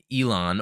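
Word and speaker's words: Elan: I guess the idea is Elon, or I think it's pronounced with the trill of the tongue, like Aaron, I think with the L, the R.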